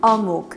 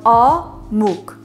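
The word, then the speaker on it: eomuk: Now onto our star ingredient, Korean fish cakes called omuk. It's spelled E-O-M-U-K on Google, but you know, Google doesn't get it right all the time, obviously. Phonetically spelled omuk. Omuk, okay?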